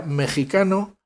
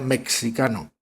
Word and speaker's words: mexicano: apéndice final, aparece ya mexicano definido como mexicano. Y añaden, la X se pronuncia como J, por si acaso, porque hay algún despistado que a lo mejor pronuncia, y lo hay, que pronuncia mexicano.